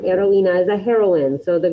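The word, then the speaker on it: heroína: one to pronounce repeat remember that h is silent heroina is a heroine so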